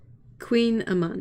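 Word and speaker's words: kouign-amann: cake and butter bye marinka how do you pronounce queen aman queen aman yeah that's it i know that one click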